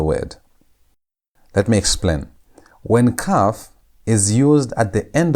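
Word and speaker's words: kaf: Our next word is letter number 11, which is cuff. Cuff. And cuff sounds like the way you pronounce it. It has the K sound. K as in key.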